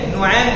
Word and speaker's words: نعیم: وہی شروع ہو گئی۔ جیسے حسین ہے تو نعیم بھی اسی وزن پہ نعیم بنتا ہے، حسین کے وزن پر۔ تو حضرت میں نے